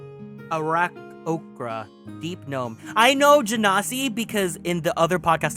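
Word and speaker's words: Genasi: I know Janasi because in the other podcast I was listening to the Janasi player was like, "Oh, it's pronounced Hennessy.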